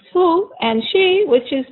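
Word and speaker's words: הוא: in female and we have he which is pronounced who and she which is pronounced he and here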